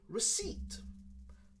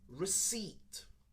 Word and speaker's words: receipt: the spelling is but the last sound that we use is more of an e sound we say receipt receipt more of an long e sound okay i can't find